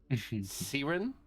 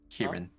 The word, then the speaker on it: Kieran: Is it Siren? Kieran. Kieran. Kieran.